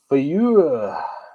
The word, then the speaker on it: FAEUYH: Fayuh. It's the sound that us old guys make when we're getting up off the couch. That's how it's pronounced and that's how it's spelled.